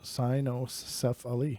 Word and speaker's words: cynocephali: These canine men, also known as the cynocephali, pronounced cynocephali.